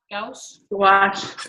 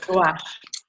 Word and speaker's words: gouache: Gouache? Gouache. Gouache. Gouache. Yeah. Gouache. It sounds like wash with a G in front of it. Gouache. Yes. The O-U-A makes the wash sound in French.